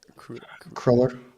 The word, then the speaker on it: cruller: How do you say it? Cruller. Cruller. I mean, that's a Germanic American way of saying it.